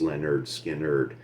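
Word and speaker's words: Lynyrd Skynyrd: the title of the album pronounced lenerd skin nerd they were trying to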